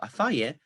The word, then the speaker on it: afaye: However, we also get stress on the penultimate syllable of afaye, despite the fact that afa has underlying stress on the first syllable.